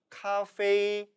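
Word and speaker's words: 咖啡: 그래서 오늘날의 중국어에 있어서 커피는 따라 읽어보시죠. 카페이, 카페이가 되는 것입니다.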